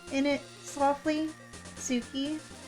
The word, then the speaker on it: Tsuki: I mean, when you say it out loud, the T is like, it's Suki. The T is like kind of there and kind of soft.